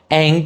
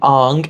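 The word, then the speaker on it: Aang: the original animated series most notably Saka becoming sooka Ang becoming Ang and iro becoming oo and if you were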